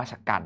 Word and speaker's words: ฉกรรจ์: อาจ จะ กัด นะ อะไร ก็ ตาม มี ธนาคาร ไม่ ออก เสียง จอ จาน ตรง เนี้ย ต่อ ให้ เป็น แม่ กด นะ ครับ แต่ ก็ ไม่ ออก เสียง เพราะ ว่า ไม่ ได้ นับ ว่า ต้อง ออก เสียง ตรง นี้ อ่าน ว่า ฉกรรจ์ นะ ครับ จอ จาน